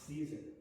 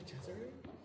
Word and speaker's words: Caesar: And how do you pronounce his last name? I've never heard it. I've only seen it. The Cesare? Caesar. The Caesar. Yeah. Not the Cesare?